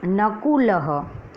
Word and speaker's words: नकुलः: तो शब्द में सर्वप्रथम है नकुलः, न कु ल ह। जो विसर्ग है उसका उच्चारण ह से होता है, नकुलः।